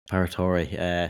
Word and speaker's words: Paratore: And the winner of this event as well, Renato Paratore, or whatever how do you pronounce his surname? Paratore.